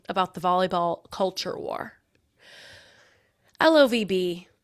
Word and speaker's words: LOVB: LOVB, pronounced love with a silent B, has That's not attracted a a number thing.